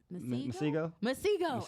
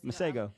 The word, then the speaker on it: Masego: I can't pronounce his name right. Masego? Okay, Masego.